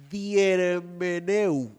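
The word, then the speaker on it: διερμηνεύω: Diermeneu. Dígalo conmigo, diermeneu. Pronúncielo así.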